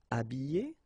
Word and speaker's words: habillé: Habillé, habillé, déshabillé, déshabillé. Okay, so you can see that here, this h here, this letter is not pronounced.